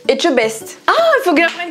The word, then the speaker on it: Etchebest: Non, regarde, il y a un T avant. J'ai jamais réussi à le prononcer. Vas-y, allez, douce. Non, mais si, regarde. E-T-C-H, ça fait. Echtebes. Non. C'est fou comment tu. Mais attends, pourtant, tu sais dire le etche. Etche. Et le best. Etchebest.